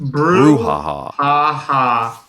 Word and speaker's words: brouhaha: I've only seen it a few times before, but it is pronounced brouhaha.